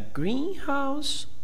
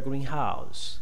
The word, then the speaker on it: greenhouse: Hey, which do you prefer? A greenhouse or a greenhouse? Okay, so we have to observe that the stressed syllable is different. When you have a compound, okay, usually the first one is stressed. Okay, when you have a phrasal word, phrasal sentence, the second one is distressed.